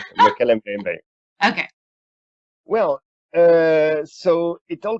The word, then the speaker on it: Mokele-mbembe: Mokele-mbembe? Mokele-mbembe.